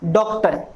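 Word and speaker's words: doctor: अगला देखिए डॉक्टर, इसमें पहले डे साउंड का फोनेटिक सिंबल, ओ साउंड का वाउल सिंबल, ट साउंड का सिंबल और ए वाउल सिंबल, डॉक्ट। इसमें र साउंड को प्रोनाउंस नहीं किया जाएगा।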